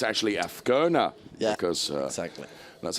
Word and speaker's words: Azcona: But in fairness, you put me right with regards to a racing driver called Michael Azcona. It's actually Azcona.